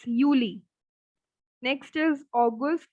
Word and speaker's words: August: Next is August. So again, we have the same spelling, but the only difference is of the Aussprache. August, August. It's not August. It's August or August. It's August, Gust.